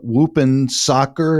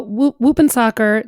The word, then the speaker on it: Whoopensocker: You call it Whoopin' Soccer. I'm not sure I'm pronouncing that right. You got it. Tell us about Whoopin' Soccer. Sure. So Whoopin' Soccer, WHOOPENSOCKER.